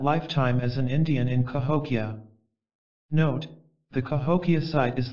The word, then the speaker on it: Cahokia: I even remembered that I should put the emphasis on the third syllable when I say Cahokia instead of on the second which is the way